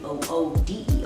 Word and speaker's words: water: will not wear ice we spell it wate are we pronounce it wo OD or what X yummy